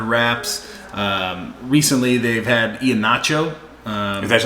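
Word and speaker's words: Iheanacho: those guys under wraps um recently they've had ian nacho uh that's how you say his name yeah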